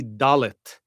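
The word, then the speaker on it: דלת: And now our final letter for tonight is going to be dallet.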